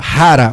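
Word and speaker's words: χαρά: Rara o nome, né? Se escreve com ch a transliteração. É uma letra que em grego é parece um x, mas a gente pronuncia como ri.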